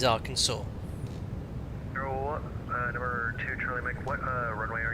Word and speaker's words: Arkansas: was wondering this well why is Arkansas not pronounced Aransas that's probably a YouTube video about it but it is Arkansas number two what Runway